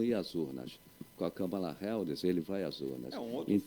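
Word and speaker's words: Kamala: né o camala como Cada um pronúncia de um jeito não sei nem Qual a pronúncia correta mas a correta mesmo é camala cala é então a camala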